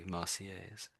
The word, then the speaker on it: Marseillaise: again, we're not really saying the L's, are we? Marseillaise.